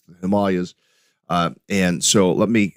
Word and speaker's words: Himalayas: can tell you that in India it is pronounced Himalayas not Himalayas that's how we pronounce it here in the in the west but if you're there it's the Himalayas uh and so let me let me get